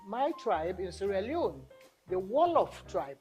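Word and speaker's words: Wolof: still part of seron still called the wallof tribe not jolof because we are English We Now pronounce the J the proper way give it the proper pronunciation of Jolo so now without even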